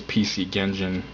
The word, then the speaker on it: PC Genjin: The cool thing is PC Genjin obviously rhymes with PC Engine.